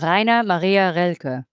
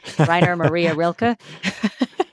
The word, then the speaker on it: Rainer Maria Rilke: So Rainer Maria Rilke. Having lived in Germany for 15 years, I say that with the German pronunciation. American pronunciation would be Rainer Maria Rilke.